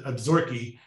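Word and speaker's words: Absaroka: scenery in what i think are called the absorkee uh it's spelled absorka but it's pronounced a little differently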